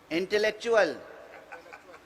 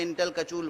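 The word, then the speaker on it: intellectual: تلفظ نہیں آتا تھا، تو اردو میں انٹلیکچول جب لکھا جاتا تھا تو میں تو اسے انٹل کچول پڑھتا تھا.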